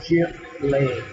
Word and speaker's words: Zivile: oh yeah, and so people ask all the time about, is it Zivile or, and it's pronounced Zivile. And even though it's a Lithuanian name, it suits the cheese very well.